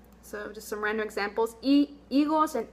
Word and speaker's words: higos: Our first word is, and our H is silent, higos.